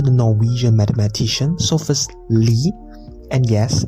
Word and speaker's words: Lie: Norwegian mathematician so first Lee and yes it's pronounced Lee not like telling a lie It's lee group.